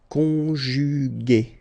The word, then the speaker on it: conjugué: Okay, second possibility here, you've got this accent aigu, so remember this accent aigu is pronounced a, okay, and so you get the word conjugué, conjugué, okay.